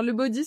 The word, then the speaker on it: Lebodi: Alors, le body, ça s'écrit L E B O D I et le body c'est une marque de body pour femmes.